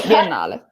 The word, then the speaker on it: Biennale: Well, how would you pronounce it? Biennale? Yeah, no. It's Biennale.